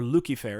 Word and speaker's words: Lucifer: of isaiah the word lucifer or lucky fair is actually how it's pronounced in latin is a is a